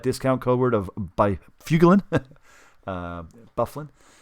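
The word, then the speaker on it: Byfuglien: Bufflin is the way it's pronounced, but Byfuglin or Fuglin is the way it's pronounced if you read it phonetically.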